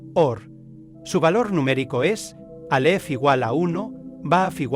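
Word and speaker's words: אור: Se lee de derecha a izquierda y se pronuncia or.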